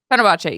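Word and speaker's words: Fenerbahçe: With the Turkish Euroleague team, Fenerbahce, Beko, Istanbul, I believe. Fenerbahce. Yeah, there you go. Definitely pronouncing that.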